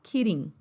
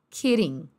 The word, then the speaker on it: kidding: a minha cara né esse D aí tem som de R também ó lá kiding kiding né que é o